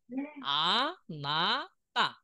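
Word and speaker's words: あなた: আমরা নিচে দেখি উচ্চারণ লিখি, এটা আ, তাই না? এটা না, না, এটা তা। আমি দেখাচ্ছি, দেখেন, আ না তা, আনাতা।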